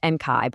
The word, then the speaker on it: Enkai: And honestly, this is the very reason Enkai, that's pronounced Enkai by the way, was created, to help us all take that step into a new sovereign self.